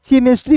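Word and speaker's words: chemistry: तो इसे बहुत लोग केमिस्ट्री पढ़ लेता है दोस्तों। यहां पे सी एच का उच्चारण क के रूप में होगा।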